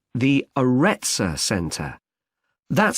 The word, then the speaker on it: Aretza: got a rather strange name it's called the aretza center that's spelled a double r e t s a